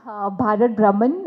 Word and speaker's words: Bharat Bhraman: This is the first ever world's uh historic event which is pronounced as Bharat Brahman uh textile heritage walk where 50 plus garments